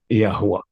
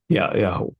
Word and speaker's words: Yahweh: The common pronunciation now is the Yahweh, Yahweh, like Netanyahu, and this drop the A in that case.